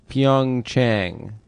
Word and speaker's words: Pyeongchang: the Winter Olympics are is it pronounced Chang or Yang because everyone Yang is the capital of North Korea yeah Chang is where the Winter Olympics is in South Korea where's pyeongchang oh speaking